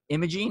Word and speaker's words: Immie: a Spartan Pro on the line I have Cross or Imaging is that how you pronounce your first name without the abbreviation it's